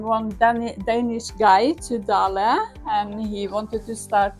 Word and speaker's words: Dale: nor Factory is yeah lots of Americans say d and absolutely correct also we say dala and we say Dale both is fine so it's named after